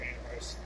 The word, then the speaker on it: Amherst: to the connection to Amherst. They kept telling me when I get there, don't call it Amherst, call it Amherst. Or the H is silent.